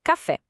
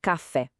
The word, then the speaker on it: café: Pensa na palavra café. Ninguém fala café, né? A gente fala café. Percebe como o fé sobe, tem mais força?